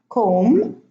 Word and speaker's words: comb: So in these words, the B is not pronounced. I'm going to read them again. Thumb, bomb, climb, comb, tomb, lamb, limb, womb, debt, plumber, plumbing.